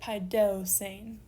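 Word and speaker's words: παιδεύσειν: And so because we have a diphthong on the end here, we move back 1 syllable, we end up on that upsilon for our accent, and we get paideusein.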